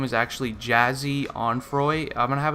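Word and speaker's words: Jahseh: jazzy or Jack yeah I guess I'm pretty sure it's pronounced jazzy it's actually jazzy Dwayne on Froy and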